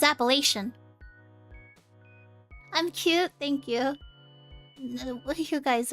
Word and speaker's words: Appalachian: huh yeah palatian mountains Appalachian or apple Appalachian I'm pretty sure it's appellation I'm cute thank you